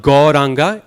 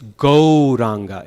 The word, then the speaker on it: Gauranga: It's not Gauranga, it's Gauranga. It's O. The sound is O in Sanskrit.